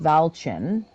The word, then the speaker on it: Vialten: The Druidic word for welcome, Vialten, or pronounced Valchen, might escape from a few lips now and again.